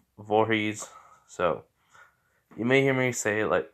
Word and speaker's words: Voorhees: you know jason voorhees i do have a tendency to say jason jorge's but you know i don't know why just have a sense to say it like that but i know it's vorhees so you may hear